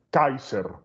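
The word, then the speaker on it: Caesar: no es una matriz se pronuncia kaiser así que el kaiser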